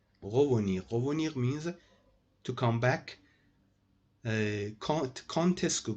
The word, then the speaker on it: quand est-ce que: Contesco, guys, pronounce this like that. Don't say condesco. It's an exception. Contesco, pronounced like that.